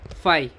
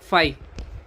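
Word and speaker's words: φ: It is denoted by Danish letter, which are pronounced as phi. कैसे pronounce करते हैं? phi.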